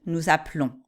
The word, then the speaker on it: appelons: vous faites bien attention, la prononciation est pas la même, c'est j'appelle, nous appelons. Tu appelles, vous appelez.